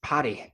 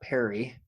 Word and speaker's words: Parry: So as the Welsh say, it's Parry, not Perry. Perry pairs it with PE. I made it to Wales last year, so I got to hear it from a Welshman. It's Parry. I'm like, okay, I'll say it like that when I come back.